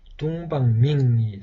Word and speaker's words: 東方明: 우리 발음으로는 동방명, 당시 대륙의 한자의 발음으로는 이렇게 둥방밍이 되겠습니다.